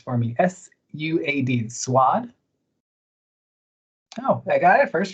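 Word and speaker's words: Suad: I'm gonna have you pronounce for me. S-U-A-D, Swad.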